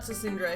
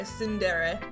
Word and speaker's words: tsundere: Not Tessundra, Tsundere. I forget the T is silent.